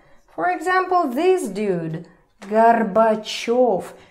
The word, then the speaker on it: Горбачёв: For example, this dude, Gorbachev. Remember the rule that yo is always stressed? I hope you remember. So here is the perfect example. Gorbachev.